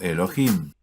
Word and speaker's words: YHWH: Ahora recuerda, porque Yud He Waw He está escrito aquí junto a Adonai, se pronuncia por tradición como Elohim.